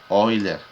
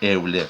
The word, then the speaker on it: Euler: viene el nombre ven y euler que se pronuncia wheeler es común decirle euler no pero ya cuando comienza a producir mejor